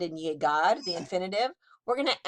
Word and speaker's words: llegar: Notice the sound the G has, llegar. It's an A after it, so it's G. The G has the hard G sound, as in Gary.